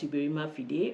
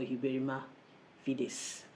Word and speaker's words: Uberrima fides: So it's spelled as Uberrima Fide or Uberrima Fides. But you would generally just call it Uberrima Fide. And some people call it Uberrima Fides, anglicizing it, so to speak.